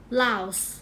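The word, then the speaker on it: Laos: นะ คะ ประเทศ เนี่ย เรา จะ มี S เสมอ อ่าน ว่า LS LS นะ คะ ใน ขณะ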